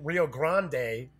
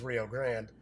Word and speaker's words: Rio Grande: So first off, Rio Grande, or as some people like to pronounce it, Rio Grande, but it is Rio Grande, will be releasing a deluxe edition of the classic Puerto Rico.